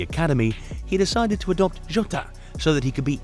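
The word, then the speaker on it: Jota: he decided to adopt jot so that he could be easily distinguished what does jot mean it's the Portuguese pronunciation of the letter J and the J of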